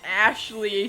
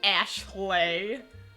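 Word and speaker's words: Aeshleigh: it's Ashley spelled a-e-s-h-l-e-i-g-h Ashley I'm gonna try to pronounce this as accurately as possible I know it's just supposed to be Ashley but it's Ashley my Arch rifle she's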